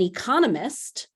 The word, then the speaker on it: economist: So an economist, the person, has the stress on that second syllable, but economics, the field, has that stress on the third syllable.